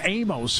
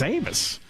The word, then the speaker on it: Amos: The coaching staff was calling him Amos, and so were the players. I said, is that how you say it? He goes, no, it's Amos.